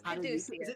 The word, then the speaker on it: Caduceus: It's Caduceus.